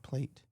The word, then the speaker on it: Plate: But then everybody in the comments was like, no, it's in in Argentina they pronounce it plate.